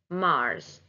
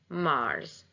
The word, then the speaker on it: Mars: And pay attention also, the S in Mars is pronounced as Z, Mars, Mars.